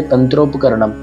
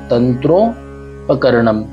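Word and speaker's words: तन्त्रोपकरणम्: फिर अभी देखिए तंत्रोपकरणम, आप चाहें तो इसे दो भागों में विभाजित कर सकते हैं, तंत्रोपकरणम। ये देखिए म पूरा नहीं उच्चारित करना है, सिर्फ तंत्रोपकरणम, इस तरह से मुझको उच्चारित करेंगे।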